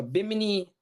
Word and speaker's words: Bimini: At Bimini, is that how you pronounce it? Bimini? Bimini.